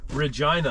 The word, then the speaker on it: Regina: somewhere I don't know Regina the city that rhymes with fun they that's a that's